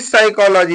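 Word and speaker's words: psychology: देखिए साइकोलॉजी तो पी से लिखा है पी साइकोलॉजी लिखा है तो पी के क्या हो गया साइलेंट हो गया यहां प साइलेंट हो गया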